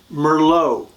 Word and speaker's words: Merlot: Sauvignon it's from Bordeaux France again Cabernet Sauvignon Merlot from France Pinot Noir from France number four